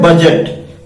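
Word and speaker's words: budget: बी यू डी जी ई टी बजट। ध्यान दीजिए students. इसमें डी क्या है? म्यूट। इंग्लिश में ऐसे बहुत सारे वर्ड्स हैं जिसमें कोई लेटर म्यूट होता है यानी साइलेंट होता है। तो यहां पर डी म्यूट है।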